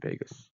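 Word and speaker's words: vagus: with Las Vegas 10 it's the Vegas nerve not the same kind of Vegas not spelled the same way it has both sensory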